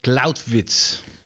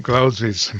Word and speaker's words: Clausewitz: Karl von Clausewitz. Así se pronuncia. Von Clausewitz, muy bien.